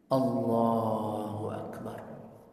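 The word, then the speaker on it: الله أكبر: Dan juga nggak boleh putus, jangan Allahu Akbar. Jadi seolah-olah itu bukan satu kalimat, jadi dua kalimat kan gitu. Allahnya sendiri, ya kan? Akbarnya sendiri. Ini nggak boleh. Ya harus bersambung. Allahu Akbar, begitu. Ya, nggak boleh diputus. Harus diucapkan.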